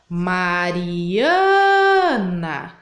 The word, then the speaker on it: Mariana: longa mais comprida né então vou repetir ó Mariana então eu demorei mais tempo para falar o A então o ã é a sílaba mais forte do nome da Mariana se eu for lá